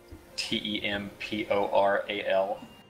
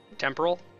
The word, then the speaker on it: temporal: had peeve with people pronouncing the word uh T like the um the lobe of your brain it starts with a t t e m p o r a l temporal instead of temporal yeah I'm not